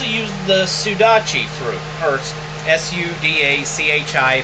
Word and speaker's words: sudachi: the sudachi through first s-u-d-a-c-h-i think that's pronounced sudachi let me know if I'm wrong and if I really